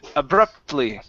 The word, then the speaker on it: abruptly: This word right here is pronounced abrupt, abruptly.